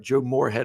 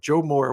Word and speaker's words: Joe Moore: the the The Joe I say it right Joe Morhead award Joe Moore award no Joe no Joe Mo not Joe